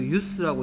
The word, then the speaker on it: use: 그 다음에 얘는 use가 아니고 use라고 읽어야죠. 명사로서 이용이란 뜻이니까 the use of steel cables.